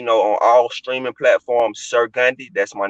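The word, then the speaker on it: Sir Gandhi: on all streaming platforms sir gundy that's my name sir like yes sir s-i-r and that's gandhi like gandhi how you say his name g-a-n-d-h-i not g-h-b-g-a-n-d-h-i that's sir gundy you know i'm saying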